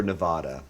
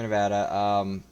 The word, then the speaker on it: Nevada: So when I say Nevada, I'm saying it wrong. Is that correct? Nevada? Anyone native will say Nevada, but anyone who gives